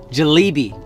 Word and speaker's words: jalebi: All right, guys, next snack, jalebi.